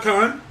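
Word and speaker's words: Caan: It's pronounced like Khan. You want to hear something crazy about Scott Khan?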